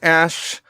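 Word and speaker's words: Æ: letter X um and the AE is pronounced Ash and then a12 is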